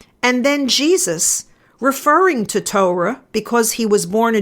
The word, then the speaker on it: Torah: which in Judaism is called the Torah or the Torah if you pronounce it with the correct Hebrew accent I'm not usually a